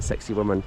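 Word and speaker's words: Sacsayhuamán: as sexy woman um it's not spelled like sexy woman but it's kind of pronounced like sexy woman we had to pray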